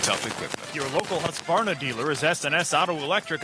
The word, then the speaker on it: Husqvarna: now how to say husqvarna you say husk like corn and barn like varnish without the ish and nah